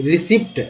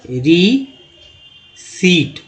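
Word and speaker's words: receipt: आपने सुना होगा रिसिप्ट, ठीक है, रिसिप्ट आपने सुना होगा, लेकिन इसे रिसिप्ट नहीं पढ़ते हैं। करेक्ट ये है, गलत, उच्चारण ही गलत है। पढ़ेंगे कैसे, रीसीट, ये सही है।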